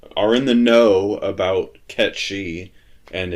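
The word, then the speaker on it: Cait Sith: I think happened is whoever the the casting person or the the director of like the voice cast just read it and said oh Kate Sith okay so here's how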